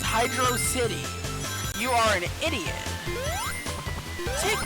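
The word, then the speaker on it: Hydrocity: like six years ago no it is not hydrosity it is hydro City you are an idiot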